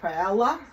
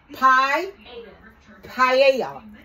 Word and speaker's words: paella: some paella my granddaughter gave me the correct pronunciation for it paella there were some paella come and say it for me please quickly pie IA okay so this is it you guys so